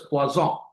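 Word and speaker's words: Poisson: The other is known as the pazong. It is written as P O S N pronounced as quazon.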